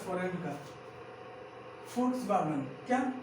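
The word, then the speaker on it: Volkswagen: फोक्सवैगन, क्या इसे पढ़ता है वोल्क्सवैगन नहीं, वोल्क्सवैगन नहीं, इसे फोक्सवैगन, क्या इसे फोक्सवैगन, और क्यों क्यों पढ़ते हैं, कैसे पढ़ते हैं, उस विदेश की भाषा है, क्या है, इट्स अ फॉरेनर लैंग्वेज, क्या है, इट्स अ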